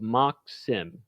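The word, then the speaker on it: MachSim: find this folder labeled mock sim. Uh that's that's how we pronounce it. It it stands for machine simulation. So for whatever reason we abbreviated it uh and pronounced it mocks.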